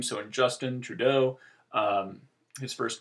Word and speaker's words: Trudeau: quote mark and then his last name is French so that like many French words tends to have stress on the second syllable or the last level